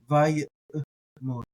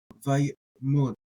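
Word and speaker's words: ויעמד: And so you're doing something like vayet, and if you're gonna pronounce that ayin, vayet mod, vayet mod, vayet mod, vayet mod.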